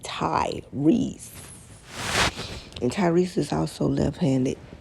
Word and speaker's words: Tyrese: for that uh but his name isn't spelled t-a-i you get what I'm saying it's spelled t-y-r-e-s-e Ty Reese and Tyrese is also